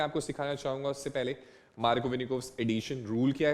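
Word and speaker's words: Markovnikov: कई स्कूल के टीचर इसको मार्को निव्स भी बोलते हैं, अजीब अजीब प्रोनाउंसिएशन करते हैं। मार्कोविनिकोव्स is good for मी, I hope आप लोगों को भी ऐसा ही साउंड कर रहा हो।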